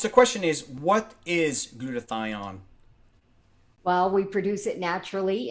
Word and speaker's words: glutathione: needs to survive is glutathione and so that is pronounced as glue yeah a lot of people have a hard time saying that word or glue your tie on gentlemen this is how